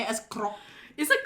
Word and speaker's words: Grok: Do you say it as krok? Is it grok?